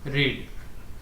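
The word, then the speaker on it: read: जैसे रीड, ठीक है, सेकेंड फॉर्म भी रीड, थर्ड फॉर्म भी रीड। तो बस बात क्या होता है कि इसका प्रोनाउंसिएशन रीड है, इसका प्रोनाउंसिएशन रेड है, इसका भी प्रोनाउंसिएशन रेड है।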